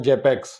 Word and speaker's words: Xapex: अब एक्स लगाने का इसमें मतलब ये था कि इसे हम एक्स एपेक्स बोलते हैं, प्रोनाउंसिएशन इसका जेपेक्स रखा हुआ है।